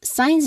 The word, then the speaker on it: science: Science is my favorite subject. Science is my favorite subject. Your turn. Very good. Make sure to say both syllables. You say it as signs.